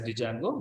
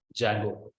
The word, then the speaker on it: Django: to say it as Django we have to say test Django the D is silent so we have to pronounce it as Django so Django is a